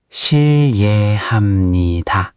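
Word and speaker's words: 실례합니다: shil le ham ni da shil le ham ni da The ye part, make sure it flows. shil le not shil i ye Keep them connected. shil le ham ni da Beautiful.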